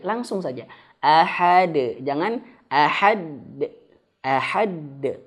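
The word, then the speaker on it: أحد: Ahad. Langsung saja. Ahad. Jangan. Ahad. Ahad. Yang pertama jangan tahan. Ahad. Yang kedua jangan dihamzahkan di akhirnya. Qul huwallahu ahad. Ahad. Nah, jadi kayak ada hamzah tertahan di akhirnya.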